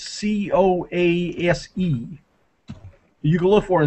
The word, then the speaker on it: Coase: I don't know how he knows pronounce his name, but his name is I would pronounce it as Coase. It's Coase.